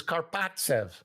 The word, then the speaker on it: Karpovtsev: He says, Karpovtsev. I go, okay. I call Pierre Paget back and I said, we'll take this guy, Karpovtsev. And so we make this trade. Mike Hurlbutt for Alexander Karpovtsev, who flies over the next day or within